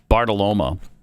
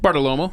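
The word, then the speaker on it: Bartiromo: Bongino talking to Maria Bartoloma. How do you say her name? Bartolomo. Yeah, Bartolomo. Yeah. I don't know why. I always want to put an A there at the end.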